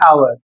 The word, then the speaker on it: hour: जैसे इसमें लिखा है द ऑनेस्ट एयर लॉस्ट ह ऑनर इन एन आवर।